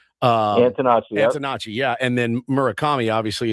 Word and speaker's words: Antonacci: Antonacci. Antonacci, yeah.